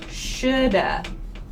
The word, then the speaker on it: should have: So this should have sounds like shoulda. Shoulda. It's like we put an A at the end of should. I should have studied more. I should have studied more. This is how a native speaker pronounces should have. So you usually do not hear have here.